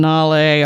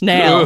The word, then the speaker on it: Nale: Yes, I've given up on Nale, all right? You win. It's Nail.